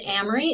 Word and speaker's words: Amery: So again, my name is Amery. If it helps you to remember it, it rhymes with Camry, like Toyota Camry.